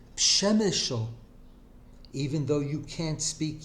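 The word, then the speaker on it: Przemyśl: I have listened to them say, not Shemeshel, bemoaning my Yekishness, pronounce it Pshemeshel, even though you can't speak Yiddish.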